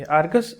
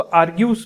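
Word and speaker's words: Argus-eyed: So first option is, अब इसको आर्ग्यूस पढ़ लीजिए, आर्गस पढ़ लीजिए. तो एक्चुअली तो आर्गस होता है इसका प्रोनाउंसिएशन, बट आर्ग्यूस भी पढ़ा जा सकता है, कोई इशू नहीं है.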